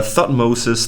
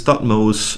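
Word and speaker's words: Thutmose: common yeah yeah yeah then we have uh thought moses thought mohs tutmos jihutimos and many many other variants um i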